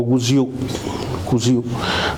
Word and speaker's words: Guziu: a ponerlo así entrecomillado, el famoso cocijo que le pusieron los españoles cuando llegaron, en realidad se pronuncia como Guziu, Janguziu, que es el